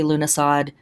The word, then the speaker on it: Lughnasadh: that around the world this word is pronounced in a couple of different ways here in the west we often say lunasad or I guess I should say here in America um but it is